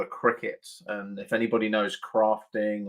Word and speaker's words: Cricut: amazing machine called a cricet and if anybody knows crafting or anything like that a Cricut Machine or cry cut as it is spelled um you can do